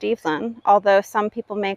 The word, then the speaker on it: Evelyn: I used to work for Crabtree and Evelyn, so I know that that's pronounced Evelyn, although some people may call her Evelyn, and that's okay too.